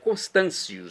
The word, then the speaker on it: Constâncio: Constantos eh Constâncios, né? Porque o T em latinha pronúncia é C.